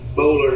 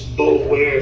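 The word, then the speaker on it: Boulware: that my friend Barrett Bowler has. That's who he works for. Barrett Bowler. Yeah, Junior. Yeah, I spell it. It's Bowlware is how it looks. B-O-U-L-W-A-R-E.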